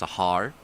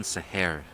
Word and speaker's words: Sahar: The anglicized pronunciation, of course, Sahar, but the Urdu pronunciation, Sahar.